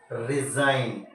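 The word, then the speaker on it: resign: नहीं होता नेक्स्ट देखले हम रिजाइन क्या पढ़ते हो आप जी साइलेंट कर दिया इसके अलावा टी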